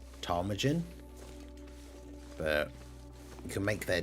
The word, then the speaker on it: ptarmigan: It's ptarmigan? Ptarmigan? I don't know how you say that. I'm assuming the P is silent if it's PT. Ptarmigan?